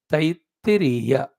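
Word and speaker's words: Taittiriya: Earlier one is Taitiriya. That is not Taita, it is Taiti.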